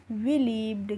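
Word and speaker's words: believed: बी लीव्ड क्या पढ़ेंगे बीई से क्या हो जाएगा बीई से हो जाएगा बी और एल आई से हो जाएगा ली और ई ईडी का हो जाएगा ड तो इस पर हो रहा है यहां पर भी ड ही प्रोनंसिएशन हो रहा है ईडी का तो होगा यह बिलीव्ड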